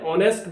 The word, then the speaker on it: honest: Similarly an honest man means एक ईमानदार व्यक्ति. So we won't say that an honest man, we will say an honest man. So in both cases H is silent.